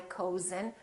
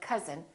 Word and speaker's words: cousin: like cousin my cousin we don't say my cozen we say my cousin or country and once